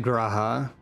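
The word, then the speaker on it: G'raha: is gratia then okay the game is saying it graha I'm emphasizing they really did stop emphasizing the first letter as much oh is it not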